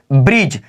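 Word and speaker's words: bridge: दी silent letter देखिए इसका rule क्या है जी से पहले क्या बोला जी से पहले दी साइलेंट होता है जी से पहले दी साइलेंट होता है एग्जांपल देखिए ब्रिज क्या बोला ब्रिज देखिए यहां पर जी है और जी से पहले क्या ए जाएगा तो दी ए जाएगा तो हमारा साइलेंट हो जाएगा दी बिल्कुल इसका आवाज़ नहीं निकलेगा तो इसको पढ़ेंगे क्या तो ब्रिज पढ़ेंगे याद रखिएगा यहां पर लिखा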